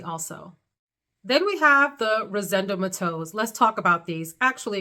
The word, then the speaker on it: Rosendo Mateu: Then we have the Rosendo Mateus. Let's talk about these. Actually, excuse me, someone shared with me how to pronounce it. Rosendo Mateu. Mateu. It's not Mateo.